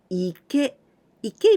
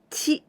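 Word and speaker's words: 池: is just the same this new Candy we pronounce Ike means Pond and also in oyami we can pronounce Chi the same as here TI because this right part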